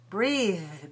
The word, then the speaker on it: breathe: Notice that this word is spelled with an E, a silent E at the end of it, and it's a verb. If we take the E away, it becomes a noun. And we change the pronunciation in two ways. The E vowel changes to eh, and the voiceless, changes to th.